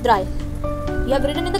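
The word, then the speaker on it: drei: then wound and then three is called dry you have written in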